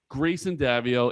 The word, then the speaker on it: Greyson Daviau: And it's really important that we pronounce that name properly. Grayson Davio.